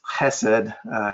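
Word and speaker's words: חסד: or something like that that's like nails on a chalkboard to me it's Hesed go ahead and say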